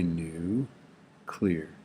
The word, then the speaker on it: nuclear: We say new and clear, right? Just say new clear.